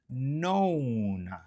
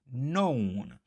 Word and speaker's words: known: On a known. OK. So, c'est no known. Donc le K ne se prononce pas guys.